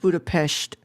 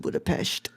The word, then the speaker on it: Budapest: It's pronounced Budapest. There's no H in that. How am I supposed to know that? Yeah, sorry, Brad. I just had to because I've seen some Hungarian YouTubers who pronounce it Budapest.